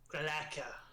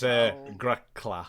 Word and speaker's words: Grakla: Galaka. Get it right. I don't call you Rakada. It is Grakla.